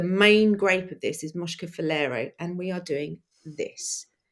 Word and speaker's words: Moscofilero: So I've had to write it out phonetically. Right. The grape that we're doing from Greece this week is Moscofilero. That is only taken Nailed it. 35 times to do. Moscofilero.